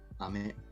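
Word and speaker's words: 飴: Ame. Ame, just like rain. Technically, there's a different inflection, but that is something I'm still working on myself.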